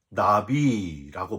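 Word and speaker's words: נביא: 선지자를 구약 성경의 언어인 히브리어로 어떻게 발음하는지 아십니까 나비라고 발음을 합니다 여러분 재밌지 않습니까 꽃마다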